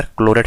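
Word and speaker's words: Clairaut: हम बोलते हैं आपका क्लोरेट फॉर्म। ठीक है, ये है आपकी क्लोरेट फॉर्म। क्लोरेट की स्पेलिंग कार्लेट, क्लोरेट बोलते, कार्लेट कुछ ऐसी नाम है, क्लेरोट फॉर्म बोलेंगे ऐसे, क्लेरोट फॉर्म।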